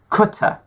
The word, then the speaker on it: Qatar: Now I have a debate about this one, because this is Qatar. You pronounce it Qatar because it's an Arabic word. It's not Qatar.